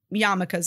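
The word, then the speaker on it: yarmulke: so we called them so in the movie they call them yamakas a lot and they're it's spelled yarm so like if you've ever seen like yarm written that's they're saying yamaka there's a lot of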